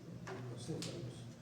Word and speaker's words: tricocéfalos: Cuando dice tricho, es trico, se pronuncia trico, tricocéfalos.